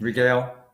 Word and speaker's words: regale: You were meant to regale, how do you pronounce that? Regale. Regale, thank you, us with your gift.